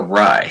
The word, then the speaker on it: Ray: uh master director sausage ray um as far as i know it's ray but is it rey or right that's probably englishification of it both ways it's kind of um right um americanization i have to go